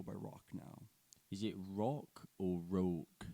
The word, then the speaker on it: Rauk: Is it rock or rogue? It's spelt Rauk, but I pronounce it Rauk.